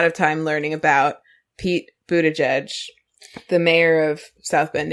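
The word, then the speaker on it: Buttigieg: okay that yeah that our producer in was trying to say his name and he said Pete buddy gay someone like CNN or something say buddy gay but but buddy gay but he did the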